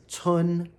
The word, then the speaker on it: 村: So again, this component is pronounced tsun, 4th tone, and village is tsun, 1st tone.